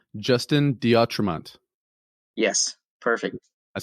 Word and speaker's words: D'Autremont: So look for Drunk Conspiracies Podcast and one-on-one with, make sure I say this right, Justin Diatremont.